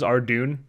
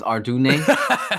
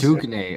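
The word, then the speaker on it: Ardougne: Mine was Ardoon. I always pronounced Arjigon. It's Ardune. Yeah, me and my friend Arjigon. It's Ardoin, isn't it? Ardoin. Well, that's what I said. It's Ardugne, okay?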